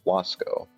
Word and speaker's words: Vasco: These, in turn, come from Latin Vasco, pronounced Wasco, plural Vascones, see history section below.